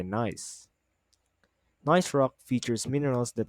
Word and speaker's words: gneiss: A gneiss rock is pronunciated with silent G and pronounced by gneiss.